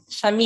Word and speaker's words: Yamile: And what about you, Shamila? I'm saying your name wrong. I know I am. Jamila. Shamile.